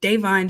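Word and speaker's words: Da'Vine: pretty safe to say because Davine, I'm sorry, I've been saying her name wrong this whole season. Davine Joy Randolph has been sweeping everything.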